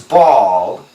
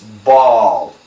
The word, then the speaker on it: bald: hear the S, was bald, this is a tough one, the pronunciation B-A-L-L, B-A-W-L, same pronunciation, ball, it's an A-W sound, the IPA symbol is